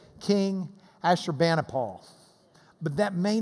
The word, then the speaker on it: Ashurbanipal: In Lubbock, we would say King Ashurbanipal.